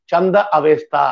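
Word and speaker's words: Zend Avesta: இவங்க பயன்படுத்தின மொழியோட பேரு ஜெந்த் அவேஸ்தா. தம இன்னும் கொஞ்சம் இந்திய பாணியில சொல்றதா இருந்தா சந்த அவேஸ்தா அப்படின்னு சொல்லலாம், இங்கிலீஷ்ல ஜெண்ட் அவேஸ்தான்னு சொல்லுவாங்க. இந்திய உச்சரிப்புக்கு சொல்றதா இருந்தா சந்த அவேஸ்தா அப்படின்னு சொல்லுவாங்க. இது எல்லாத்தையும் தாண்டி முக்கியமான இன்னொரு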